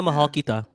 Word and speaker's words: Mahal kita: Yeah, Mahal Kita.